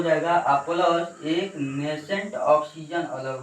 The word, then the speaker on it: nascent: या O2 में plus नेसेंट oxygen. ये जो सिंगल पीस ऑक्सीजन बचा है, दिखाई दे रहा है, इस ऑक्सीजन को नेसेंट ऑक्सीजन बोला जाता है। नेसेंट का स्पेलिंग देखिएगा यहाँ पर, NASCENT, नेसेंट।